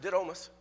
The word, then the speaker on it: Didymus: understand it just a little bit better it's pronounced did almost and what it means is twofold or twain